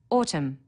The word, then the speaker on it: autumn: needs a capital letter Autumn a silent n on the end through one of the